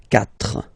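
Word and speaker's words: quatre: So you get this Q-U-A, but then the sound that you will pronounce is K. Okay? 4.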